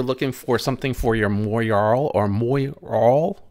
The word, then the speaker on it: Moyarl: for something for your Moyarl or Moyarl. I'm not sure if I'm saying that right. Moyarl. I think Moyarl. If I remember right, is the correct pronunciation, or close to it anyway.